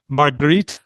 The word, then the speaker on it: Margriet: name yes I can in Dutch it's called M so it's really around the G you know in the middle that's kind of let's